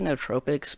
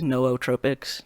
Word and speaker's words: Neotropics: like I just say ne Tropics but like apparently the correct pronunciation is no o Tropics like you got to like pronounce both O's and that just no